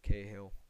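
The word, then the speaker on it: Cahill: not we get K kahill that's how you say his name K Hill um here we go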